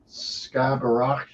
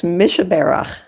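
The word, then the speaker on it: Mi Shebeirach: And I don't know if I can pronounce this properly, but it's Skabarach. Yeah, it's Mishaberach.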